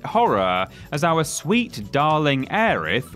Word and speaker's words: Aerith: as our sweet darling Aerith, or Aerith if you want to get different pronunciation about this, was brutally murdered by all-round knobber Sephiroth, and you know what?